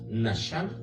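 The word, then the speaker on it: נחם: Y la palabra arrepentirse, de justamente de estos versículos que estamos hablando, es del hebreo, no lo sé pronunciar, pero es Naham, que según eso se pronuncia Nasham, ¿verdad?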